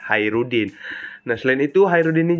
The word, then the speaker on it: Khairuddin: hajrudin Iya benar Hairudin Hairudin bacanya bukan hajrudin Ya emang tulisannya itu hajrudin tapi bacaannya itu ya Hairudin nah Selain itu Hairudin